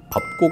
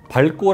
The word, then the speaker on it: 밟고: 사뿐히 즈려 밟고 가시옵소서 밟고 가 맞거든요 근데 밝고 라고 발음하는 경우가 7 80프로 였어요 어쨌거나 일상 생활에서는